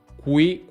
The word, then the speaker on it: qui: quello che puoi fare prendere un foglietto di carta e provare dire qui qui qui qui qui non si dovrebbe muovere se uno lo pronuncia in maniera più inglese quello che esce qui qui qui qui qui vedete che il foglietto si muove lo stesso per pasta